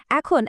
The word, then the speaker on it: へ: কিন্তু যখন এটা বাক্যের মধ্যে দিক বোঝানোর জন্য বসে, তখন কিন্তু এর উচ্চারণটা পাল্টে গিয়ে এ হয়ে যায়।